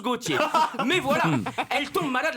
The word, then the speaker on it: Gaultier: Ça s'écrit Gaultier, mais ça se prononce Gauthier.